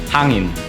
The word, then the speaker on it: hangin: So like, yeah, I'm just pronouncing it really weird because, yeah, I'm speaking English right now. But if you wanna, yeah, Filipino accent, hangin.